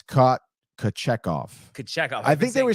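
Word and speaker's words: Kochetkov: And also, I've been mispronouncing. It's not it's Kochekov.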